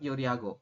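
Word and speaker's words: 요리하고: pertama adalah ini kan ada yoriago yoriago dibacanya tetap yoriago yorun yoriago jadi jadi h-nya tidak jelas ya yoriago kemudian di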